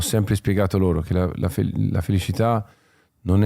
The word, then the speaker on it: felicità: la felicità, la felicità, l'accento di Bocelli è toscano e quindi il suono della C è un po' particolare, infatti non dice propriamente felicità, cità città, ma la c diventa un po' una shelicità.